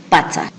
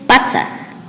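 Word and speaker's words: patsak: El número 100 se dice Patzaj. El número 100 se dice Patzaj. Asimismo, para poder escribir y pronunciar números a partir de 1000, el número 1000 se dice Waranga.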